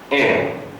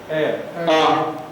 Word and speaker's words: heir: How do we pronounce this word? It's heir.